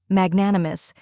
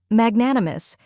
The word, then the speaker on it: magnanimous: down first we have mag which rhymes with bag next is Nan which rhymes with man and is the stressed syllable then comes uh a